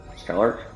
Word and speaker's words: scholar: Scholar? Yeah, I don't know how to pronounce that. I know it's scholar, but it's the CH on that fucking throws me off.